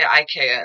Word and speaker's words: IKEA: But anyway, so um or they I say EA, but they say IKEA in the States, I think.